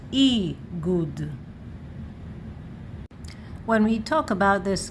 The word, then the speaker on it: איגוד: And here you see Aleph, Gimel, no Yod, because there is Nikud, but without Nikud we add Yod. And that's how you know that you should say this, Igud.